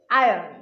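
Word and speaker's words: iron: এর সঠিক উচ্চারণ হচ্ছে আয়রন। আয়রন, র উচ্চারণ হবে না, আয়রন, যার বাংলা অর্থ লোহা।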